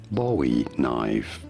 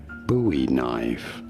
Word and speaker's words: Bowie knife: is generally pronounced as Boe knife Boe knife although it is also sometimes said and it is also correct to pronounce it as buoy knife buoy knife or more generally Bowie knife and now you know